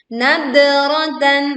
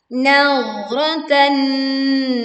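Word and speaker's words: نضرة: Nah, perhatikan huruf dhad. Huruf dhad adalah huruf yang tebal dan tidak memiliki sifat mantul. Jadi saat membacanya jangan dipantulkan menjadi nadratan. Nah, itu contoh yang keliru. Sedangkan yang betul adalah nadratan na'im.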